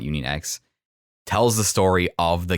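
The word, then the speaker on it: Union χ: It's called Union Cross, but it's spelled Union X. I'm going to just call it Union X.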